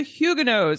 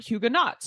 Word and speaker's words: Huguenot: We are exploring the history of the Hugenos, and you'll get to hear me learn about how to pronounce that name correctly. It is Hugeno and not Hugenats, as I had been saying, and which you